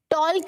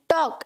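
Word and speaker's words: talk: तो ये जो एल है इट इज साइलेंट, ठीक है। लेट्स टॉक, टॉल्क नहीं, टॉक, लेट्स टॉक, ओके।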